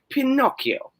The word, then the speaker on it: Pinocchio: But if there's CCH, then you pronounce it like Pinocchio.